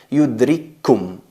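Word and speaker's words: يدرككم: Veis ahí que hay dos kaf, una muda y otra con damma, pero a la hora de pronunciarlo se escribe con dos, pero a la hora de pronunciarlo se convierte en yudrikkum, yudrikkum. No se escuchan dos kafs, simplemente se oye o se escucha una.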